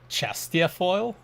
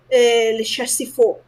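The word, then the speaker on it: Le Chastiefol: No, I'm going to say Chastiafoil. Chastiafoil? It should be more or less like Le Chastifol.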